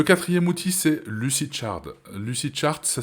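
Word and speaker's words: Lucidchart: effectivement payer le 4è outil c'est lucid chard lucid chart ça s'écrit l u C i D C H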